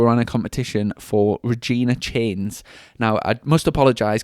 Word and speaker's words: Regina: We're on the last podcast we were on a competition for Regina Chains. Now I must apologize cuz on the on the last podcast I was pronouncing it ra Reagna or something but it's Regina and uh the we've